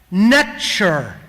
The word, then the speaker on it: NTR: NTR was actually pronounced nature almost identical extremely close to the English pronunciation of nature almost as if a